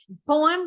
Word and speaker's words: poem: Poem, we have the stress on the first one, and we have another syllable, which is unstressed, right?